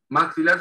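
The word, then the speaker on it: maxilla: En inglés se pronuncia maxila, solamente se pronuncia una sola L, maxila.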